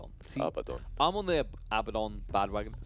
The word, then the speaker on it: Abaddon: What about the Abaddon? Just for you today. Abaddon. See, Abaddon.